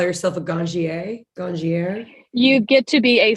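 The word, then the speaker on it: Ganjier: a n j i e r ganja sommelier gongie that's it um if and i know this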